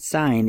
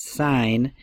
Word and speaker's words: sine: letters but it's pronounced sign and we abbreviate it s I n even though it's spelled sin and the abbreviation would still say sine the ratio of the